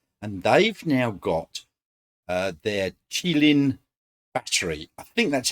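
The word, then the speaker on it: Qilin: how you pronounce it I did look it up I thought it was Keeling but according to all the things I could find on the web it's chillin q-i-l-i-n um and that's going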